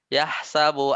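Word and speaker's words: يَحْسَبُ: Yahsabu annama lahu ya kan? Yahsab kan? Yahsabu. Oh iya. Ayat keempatnya kan bacanya bukan yahsib kan?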